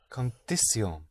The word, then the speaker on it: condición: Condición. Yes, but you hit the ending.